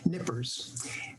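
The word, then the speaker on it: Knippers: painting by edward nippers don't pronounce the k nippers um look closely at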